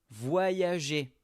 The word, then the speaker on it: voyager: La première partie, on va dire voix.